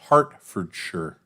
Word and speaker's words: Hertfordshire: To me, it's pronounced Hertfordshire.